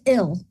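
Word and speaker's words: bhfuil: Thus, will is pronounced ill when you silence the F, bulcha.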